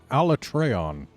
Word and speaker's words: Alatreon: be facing off against a latreille on that's how they pronounce it in game I still believe it should be alatreon considering the Japanese name is autobot Orion and the eon is like beyond but a latreille on